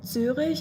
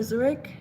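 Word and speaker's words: Zürich: If it's not zurish or Zurich as you Americans say, um, you probably have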